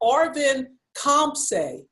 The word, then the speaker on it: Arvin Khamseh: Okay, so he told me how to pronounce his name, and then I promptly forget. Arvin Khamseh.